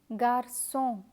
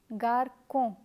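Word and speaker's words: garçon: the word is from just as Garcon if you forget to add the settler Garcon would be pronounced as Garko let me give you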